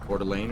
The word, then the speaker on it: Coeur d'Alene: Like Coeur d'Alene or something?